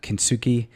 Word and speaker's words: kintsugi: And so we had this one student last year, and her presentation was using the Japanese art of, I think it's pronounced kintsugi, where you've got the broken pottery, you smash it, you refix it up with gold.